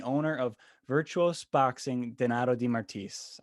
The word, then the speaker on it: DeMartiis: of virtuos boxing donato di martis i said that right d martis you said it right awesome i know i